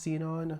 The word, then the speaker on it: Xenon: We saw the movie the night before, but we did see it in just a regular single Xenon. I think it's pronounced seen on IMX theater which is